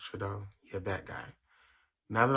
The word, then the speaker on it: Trudeau: Oh, it's pronounced Trudeau.